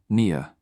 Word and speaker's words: Nia: Nia rhymes with Mia.